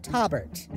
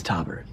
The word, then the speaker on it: Taubert: This episode, we get to spend a little more quality time with Taubert, spelled with a T. You're the guy with the name. It's Taubert. Robert with a T.